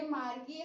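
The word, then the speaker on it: Margie: First one है मार्जी। यस, ये मार्गी हम लोग सिंपल लैंग्वेज में बोलते हैं, पर ये ब्रिटिशर्स इंग्लिश वाले जो है उन्होंने इसे मार्जी बोला है, तो हम उस हिसाब से याद रखेंगे।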